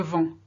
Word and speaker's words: vends: Je vends. So je vends, you can't hear the D, can't hear the S, but they're there.